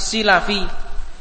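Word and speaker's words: السلفي: Imam Abu thahir assilafi jadi jangan salah bacanya ada satu imam yang namanya atau nisbahnya bukan salah tapi silafi yaitu Al Imam Abu thahir asilafi kemarin yang saya Sebutkan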